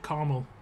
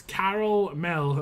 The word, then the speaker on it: caramel: caramel is okay too who's American in the chat and pronounce it Carmel I'll fight you guys I'm gonna fight you guys we're the ones that I'm gonna fight oh I missed the painting my bad it's Carol Mill okay Carmel is it